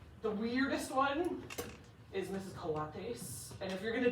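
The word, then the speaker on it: cuate: we speak Spanish and in Mexico it's it's pronounced Kates and it means homie and I was like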